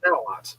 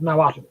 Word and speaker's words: Nahuatl: It's spelt with that at the end, but it's pronounced Nahuatl, not Nahuatl.